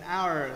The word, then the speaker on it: hour: đọc của nó nhé, hour chứ nó không phải là hour, tức là gì, âm h này là hát câm, h đã bị câm tức là nó không phát âm thì nó lại trở về với uể oải.